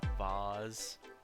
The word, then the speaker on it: vase: Vase. Vase. Every vase. Vase. It rhymes with face.